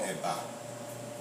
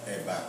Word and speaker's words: eba: Yeah, but the part that I am from, you know, the common food is there's a food we call eba, EBA, you know, and inyo. Inyo is spelled IYAN.